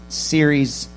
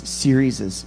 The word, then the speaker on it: series: This has been one of the coolest series. How do you say that? Series? Serieses. You don't say serieses. You just, there's just an apostrophe there thing. You just say series, like Jesus' name.